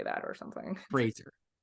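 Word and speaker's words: Frasier: Fraser, not Fraser. It's not Fraser Crane. Fraser. Yes. Okay. I've been saying it wrong for 30, 40 years, Joyce. So I look forward to trying to say it right now.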